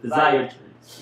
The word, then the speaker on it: physiatrist: medicine so I always get challenge with this pronunciation I was thinking psychology phys physiatry physi that's it physiatrist yes um what does a physiatrist actually do